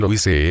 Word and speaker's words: Lewes: Entonces yo ignoraba que lo hice era la pronunciación inglesa de Lewes, nombre de ciudad que había visto ya escrito en el mapa.